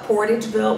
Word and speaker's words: Portageville: your family doing there in how do you pronounce the town uh portageville what was haytai where i was born but